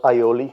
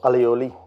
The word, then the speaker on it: aioli: I'm gonna be making a very simple Yoli or allioli whatever way you want to pronounce it now I actually have